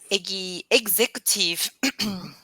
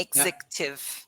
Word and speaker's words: executive: Executive, like egg. The fur. Okay. Exactly like egg. Eggs. Egg. Yeah. Executive, a high-ranking manager.